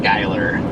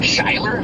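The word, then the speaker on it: Schuyler: I looked at it and thought it was Schugler but Skyler. Interesting. No it's not Skyler. I think he's lying. Yeah the U. Just ignore the U.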